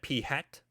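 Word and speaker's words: p̂: party hat on its head we call that p hat that is a sample proportion and last but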